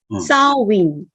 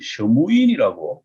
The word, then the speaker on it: Samhain: 근데 그게 스펠링이 딱 맞아. SAMHAIN이니까 삼해인인데 한국말로는 하지만 본어 아이리시 쪽에서는 사윈 마치 사윈 그러니까 어떻게 보면 사윈 부드럽게 얘기하면 사윈이지만은 이것을 그냥 딱 들으면 사윈이에요. 사윈. 네. 한국에서 상당히 알려진 유튜버들 같은 경우에는 그거를 셔무인 이러던데, 그러니까 아이리시가 발음하는 게 진짜 오리지널이니까. 그렇죠. 네, 네. 왜냐면 이게 아이리시 거니까.